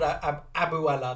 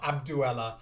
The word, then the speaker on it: Abuela: Yeah, I think she's called Abuela, not Abduela.